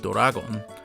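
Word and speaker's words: ドラゴン: torah is combined with the romaji for the english word dragon pronounced doragon thus toradora this story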